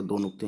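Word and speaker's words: دنوں: और बड़ी ये समझ के, ये छोटा ये जो है ना, इस तरीके से चांद का टुकड़ा दो नुक्ते हैं, और ये इसको हम मानते हैं अगर छोटी ये तो होगा उन ही।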